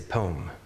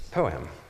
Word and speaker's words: poem: me I would say poem but it's poem it's actually it's two syllables that's what I'm told